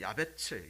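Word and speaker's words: יעבץ: 나가 바로 이야 됐습니다 야베스 원래 발음은 야베 츠 야 배치 옷 체부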